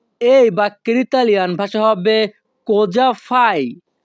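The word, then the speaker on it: cosa fai: বাক্যের ইতালিয়ান ভাষা হবে কোজা ফাই কোজা ফাই এখানে সি ও কো এস এ সা এর উচ্চারণ হবে ইতালিয়ান ভাষায় যা কোজা ফাই ইতালিয়ান ভাষা কোজাফাই বাংলা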